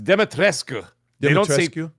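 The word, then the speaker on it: Dumitrescu: So, especially how do you say ladies de It's deatrescu. Yeah, I'm not. They don't say dematrescu like that's how it's spelled. Dematrescu is how it's spelled but they say it is deat.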